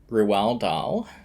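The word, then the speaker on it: Roald Dahl: It is done by the man whose name you hate when I pronounce correctly, Ruel Dal.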